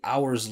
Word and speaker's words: hours: In this case, the word is f is comes after vibration hour. So continue the vibration to hours right later.